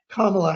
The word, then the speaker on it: Kamala: I mean, if you call her, put her name with the wrong syllable, you're accused of being a racist. So it's Kamala Harris.